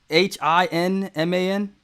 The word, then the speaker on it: Hinman: so are they asking about bill and just spell it h1 um h-i-n-m-a-n inman yeah hinman there we go yeah yeah